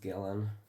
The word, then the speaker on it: Gillian: It's like I think it's pronounced Gillen.